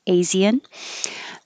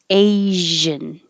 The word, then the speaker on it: Asian: pronunciation of this word we don't separate the s and the i like asean asian and we don't say